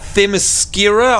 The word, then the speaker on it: Themyscira: So over here to the Enter Themyscira. I don't think I'm ever going to be able to get the pronunciation of that one right.